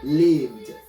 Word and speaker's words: lived: last sound leaved and remember the d is not a separate syllable is meshed together it's not a separate syllable lived lived lived let's look